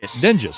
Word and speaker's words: Dinges: And now Avery Dinges, another one of the pronounce it for me again, please. Dinges, I just said it, yes.